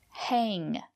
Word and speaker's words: hang: Hang. Use the long A.